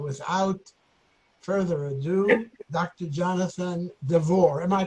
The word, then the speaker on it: Devor: Jonathan D'vour. Am I pronouncing it correctly?